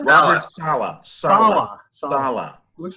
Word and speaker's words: Saleh: Sele is how do you pronounce it? Sala? Robert Saleh.